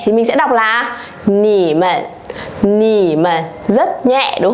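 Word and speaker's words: 你们: Còn ở đây cái câu chuyện mà chúng ta đang nói nó là thành nhẹ thì mình sẽ đọc là nỉ mận, nỉ mận, rất nhẹ, đúng không ạ?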